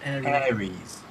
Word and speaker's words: Ares: And then you get him in his Ares armour, or Ares armour, however you want to pronounce it. It's Ares. Ares.